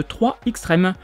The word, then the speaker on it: 3 Xtreme: en 1999 sous le nom de 3 Xtreme. Oui, je le prononce à la française, même si le jeu n'est jamais sorti en France et qu'il est sorti qu'aux États-Unis. Et développé par 989 Studios,